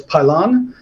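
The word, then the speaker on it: Pilón: as I just learned it's pronounced uh correctly as pylon uh and it's the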